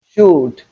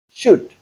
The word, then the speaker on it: should: Sometimes you hear people say could, should, would. That is incorrect. The correct pronunciation of these words are could, should, and would. That's because the letter L is silent and the OU spells the sound U.